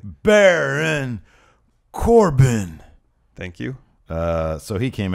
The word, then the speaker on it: Baron Corbin: Baron Corbin.